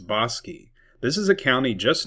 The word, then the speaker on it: Bosque: It looks like it could be pronounced Bosque, but it's Bosi.